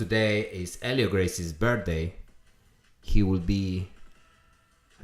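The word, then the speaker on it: Hélio Gracie: If you guys want to pronounce, it's not Helio Gracie or Helio Gracie. It's Helio Gracie.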